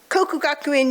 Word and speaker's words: Kokugakuin: Kokugakuin University and Hosei University.